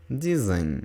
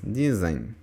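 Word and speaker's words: dizem: зимуш восеш елеш дизайн Зверніть увагу що ень ем в кінці дієслово третьої особи множини читається має звуковий носовий звук так дизайн вніс тобто не говоримо просто м а говоримо в ніс дизайн Dish авербади аутеу Пай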